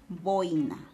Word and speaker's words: boina: correctamente tirada porque porque el acento no recae en realidad en la vocal cerrada sino en la vocal abierta es decir es incorrecto pronunciar la expresión adecuada es boina entonces eso quiere decir